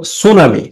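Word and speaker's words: tsunami: দেখ সুনামি সুনামি বানানটা দেখ প্রথমে টি আছে টি এস ইউ সুস উচ্চারণটা হওয়া উচিত ছিল সুনামি।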